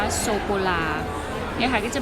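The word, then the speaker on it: sô cô la: นะ คะ แล้ว ก็ โซ โค รา ก็ คือ ช็อกโกแลต ออก เสียง ว่า โซ โก ลา ยัง ไง จะ มี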